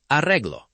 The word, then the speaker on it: arreglo: First, perro, carro, arreglo. Feel the light trill in the middle.